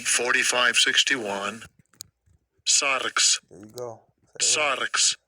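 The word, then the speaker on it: σάρξ: Sarx.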